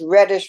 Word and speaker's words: Redish: and my name is reddish with only one D It's pronounced like the color but not spelled like the color r-e-d is H and